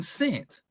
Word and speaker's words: scent: What letter is silent in scent? Which one? The smell and scent or right the c.